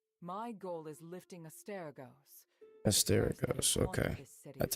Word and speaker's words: Asterigos: Asterigos, okay.